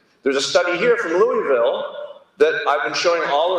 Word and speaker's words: Louisville: There's a study here from Louisville that I've been showing all around, sorry, Louisville, I've got to pronounce it right, that I've been showing all around the world for a decade.